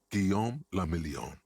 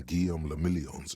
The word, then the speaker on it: Guillaume le Million: Guillaume le Million. If it doesn't rhyme, you're not pronouncing it right.